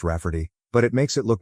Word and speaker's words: Rafferty: She told my mom that spelling it Rayfarty will be obvious that it's pronounced Rafferty, but it makes it look more girly.